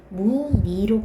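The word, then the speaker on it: 무늬: 자음으로 시작할 때 은은요, 뭐라고 발음해야 된다고요? 이로 발음해야 되니까 무니로 발음해야 되겠죠.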